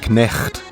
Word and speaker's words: knecht: The Dutch equivalent of the word night is knecht, meaning servant. Notice how in Dutch the K is pronounced.